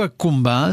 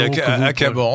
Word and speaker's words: accumbens: Moi, j'aurais dit acabans, enfin bon. Eh bien, donc, vous le prononcez en latin exact, restitué.